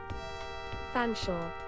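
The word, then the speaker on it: Featherstonhaugh: Pronunciation. Is that a thing? There's not even the way. Oh, there's a YouTube video. Fanshawe.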